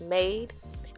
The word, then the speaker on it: Mayde: So this wig is Imani, and I think the company name is pronounced Mayde, and it's their invisible